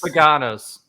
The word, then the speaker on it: Paganos: It rhymes with him Taganos. Him Taganos? Over my head. Tim Haganos. I don't know. Hagada. Him Panagos. Paganos. Paganos. Thank you.